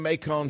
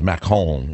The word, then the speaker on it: Macon: All right, Kathy in Macon, Georgia. I said it wrong. I can't say Macon. That's because I speak too much French. It's Macon in France.